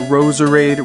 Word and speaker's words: Roserade: pretty obvious why but Roserade rhymes with Rose Parade it sounds almost exactly the same and I just